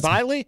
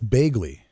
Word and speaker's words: Bagley: Is it Bailey? That's Bagley. Oh, it's Bagley? Is that how you say it? Yeah, it's Bagley. The GH combination made me think it was silent. Yeah, I mean, G and H can be an F sound, can't that's, it?